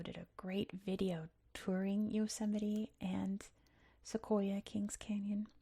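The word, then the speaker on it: Yosemite: Some people have trouble pronouncing this. Um, it is Yoseite. We pronounce T's as D's or we just drop the T sound. In this case, it's a D. Yoseite National Park.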